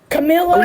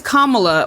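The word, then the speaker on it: Kamala: dead Grandma to vote Camila what are you what are you talking it's kamla what are you are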